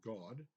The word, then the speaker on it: Gad: Simeons, Goths or Goths, which is Gad, which is Hebrew, and pronounced in Hebrew God.